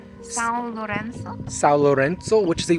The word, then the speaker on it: São Lourenço: You're at, what is it pronounced? São Lourenço.